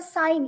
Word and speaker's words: sine: आता साइन इथं तुम्ही उच्चार सीन करायचा नाहीये मित्रांनो, सीन करायचा नाहीये, याला साइन म्हणायचं. कारण याची पूर्ण स्पेलिंग जी आहे ती आहे SINE. आपण ई हा लिहित नाही इथे, म्हणून SIN लिहितो, म्हणून आपण तरी पण उच्चार याचा साइन करायचा आहे.